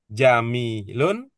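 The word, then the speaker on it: جميل: Jamilun. Jamilatun. Jamilun. Jamilatun. Apa? Jimnya panjang atau mimnya yang panjang? Mimnya yang panjang. Jadi bukan jamilatun. Jadi bukan bacanya bukan jamilatun, tapi bacanya jamil.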